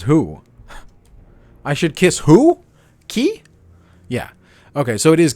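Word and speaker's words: Qui: is French himself and that is how you spell it in French and it is pronounced key but it's kind of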